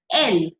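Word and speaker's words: elles: And L. Again, LS is not pronounced.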